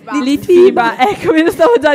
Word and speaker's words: Litfiba: Beh, dopo che questa sera ho scoperto che non si dice Liftiba, ma Litti. Come si dice? Litfiba.